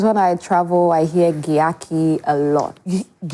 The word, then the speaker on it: Gyakie: And I kind of understand them because I spelled it that way because of how we we pronounce J in ch. No. You know that's like jee, you know, like the gy.